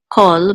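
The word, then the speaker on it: כֹּל: This is pronounced kol, but it's the same exact word meaning. So it's just sometimes it's pronounced differently. I think it's just a style issue. It depends on what words surround it. Okay. So bechol, or what words or what letters surround it. Bechol.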